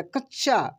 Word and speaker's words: कच्छा: इसी पे जोर लगा जैसे कच्छा च पे जोर लगेगा कच्छा कच्छ ठीक है ना अन्ना